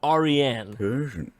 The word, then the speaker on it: Ariane: name got him and it is a persian name it's pronounced ariane you see the indo-aryans